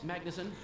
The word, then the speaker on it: Magnusson: get her back Oh fine the code yes Magnusson that's how you pronounce that I thought it was speed well